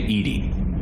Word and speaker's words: EDI: why are you named edie edie is the phonetic pronunciation of edi that is an acronym for enhanced defense intelligence it's not edie it's eddie she is going